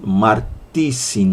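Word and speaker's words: μάρτυσιν: Há quem pronuncie dizin ou dissin, martissin ou martissin, ok? Vamos lá, lembrando que pronúncia grega é sempre um problema, é sempre uma dificuldade, mas então dousin ou dissin, da ideia de duas, e aí martusin ou martissin, como alguns pronunciam, da ideia de testemunhas.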